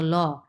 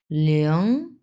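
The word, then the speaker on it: ling: এই যে এটা তো ল, এর সঙ্গে আইএনজি বসছে, সো লিয়ং লিয়ং। একবারে লিং উচ্চারণ করবেন না, লিং এরকম না, লিয়ং এরকম, লিয়ং।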